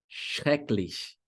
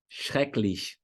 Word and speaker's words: schrecklich: Olha uma outra palavra que começa com SCH. Schrecklich. Schrecklich.